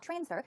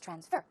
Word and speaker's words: transfer: this case same thing when this word is used as a verb this stress goes right there on the second syllable it's not transfer it's transfer verb transfer it means to send